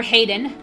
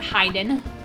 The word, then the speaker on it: Hayden: Some people call him Hiden, but I think his name's Hayden because it's spelled H A H A Y D E N. And not just H Y D E N. Yeah, Hayden, not Hiden.